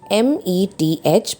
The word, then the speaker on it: meth: the name starts with the term meth m-e-t-h pronounced as meth if there are two